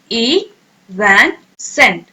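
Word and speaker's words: evanescent: Okay, अब आप pronounce करें, ई वैन सेंट, प्रोनाउंस करें आप, वेरी गुड।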